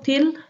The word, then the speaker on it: till: Bagaimana kamu datang ke atau sampai atau ke, aku bilang ke ya, itu til, tulisannya til tapi dibaca ti.